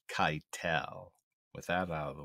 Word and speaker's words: Keitel: Before I give you what the reasons why, I need to correct a pronunciation. That is Harvey Keitel.